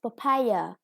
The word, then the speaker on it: papaya: syllable next pork and here is papaya with the second syllable stressed the next one spinach